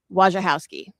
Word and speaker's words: Wojciechowski: direct reported to him, it's like run together, where's your house key? Wojciechowski.